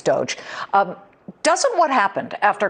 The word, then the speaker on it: Doge: that he mispronounced doge it's not dodge it's doge um doesn't what happened